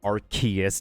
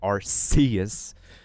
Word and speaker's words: Arceus: Arceus, not Arceus. Oh, then again, like, if there's multiple pronunciations of a word, there's multiple pronunciations of a word, so.